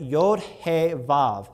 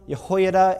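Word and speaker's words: יהו: yahosh ofhat yahushua yoram yahho and yhonatan and there's others like that but they always have yaho is always how it's pronounced and so it's not yah it's yo and so then people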